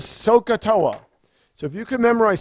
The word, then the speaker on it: SOHCAHTOA: And if you remember SOH, CAH, and TOA, and you pronounce that word is SOHCAHTOA.